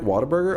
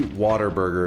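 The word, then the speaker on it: Whataburger: It's they it's pretty they say water burger is how people from from here say it like a burger chain in the south but it's actually spelled what a burger but everybody calls it water burger.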